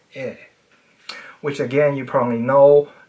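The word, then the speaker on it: へ: Unlike the last ones, the rules here are very clear. When denoting a subject in a sentence, ha is pronounced wa. When denoting a destination, he is pronounced e.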